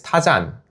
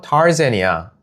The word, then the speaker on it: Tarzan: 그래서 엄마한테 점원한테 가서 그래서 엄마가 점원한테 가서 Where is 타잔? 이라고 했는데 점원이 못 알아듣는 거예요. 그래서 그때 제가 엄마 타잔이 아니고 타rzan이야 라고 했던 게 기억이 나네요.